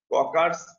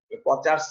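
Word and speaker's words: Kocher: আর এটা হলো ককার্স thyroid incision. এই ককার্স উচ্চারণটা অনেকেই ভুল করে বলার সময়, পরীক্ষার সময় কচার্স বলে, কচার্স না, উচ্চারণটা কি ককার্স, এইচ এর উচ্চারণ হবে না, ককার্স।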